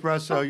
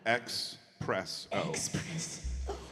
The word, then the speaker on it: Xpresso: Espresso. You're listening to 13 Folds live Press. at the Parlour. He did say it wrong, didn't he? Did I? Xpresso. Xpresso. Yeah. Like the PlayStation.